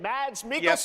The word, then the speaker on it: Mads Mikkelsen: Everyone at Summer Game Fest, please welcome the great Mads Mikkelsen. Yep. Oh, that's how you pronounce his name.